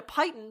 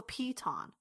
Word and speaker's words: piton: know they're not pronounced Titans how are they pronounced Pete on both of my brothers are into climbing and yeah I mentioned a peyten once in front of my little brother he's